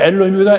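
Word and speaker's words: אלוהים: 또 성경에 이렇게 나오는데 어떻게 보면 이게 엘로힘이다. 엘로힘 이렇게 읽죠. 엘로힘. 다시 또 이거는 여기 아도나이에서 야훼죠. 옛날에는 이걸 발음을 잡아서 여호와라는데 지금 학자들이 얻은 그 결론은 야훼가 맞다 그래서 가톨릭이 제대로 발음하고 있는 거예요.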